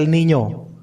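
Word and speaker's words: El Niño: H L elemen L Elninyo bacanya Elninyo ninyo jadi N yang kedua itu nya Elnino.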